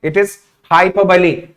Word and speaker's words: hyperbole: It is hyperbole. So hyperbole. Like we pronounce Bahubali, the same way we need to pronounce hyperbole.